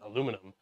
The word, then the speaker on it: aluminum: I like when people say aluminium. It makes me happy. It sounds more fun than aluminum.